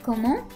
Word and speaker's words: comment: So the formal way to say what would be comment.